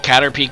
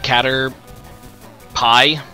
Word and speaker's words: Caterpie: So, wait, you call Caterpie Cater pie? Cuz it's definitely Caterpie, not Caterpie.